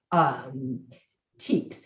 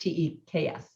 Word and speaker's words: TEKS: So we have state guidelines called the Texas Essential Knowledge and Skills, TEKS is how it's pronounced, TEKS.